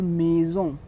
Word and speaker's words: maison: If S comes between two vowels, so we will call it Z sound, Z. Like in French we call maison to a house.